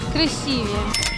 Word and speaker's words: красивее: Красивее.